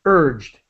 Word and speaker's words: urged: They urged, just very quick D sound, urged her to open up a gift.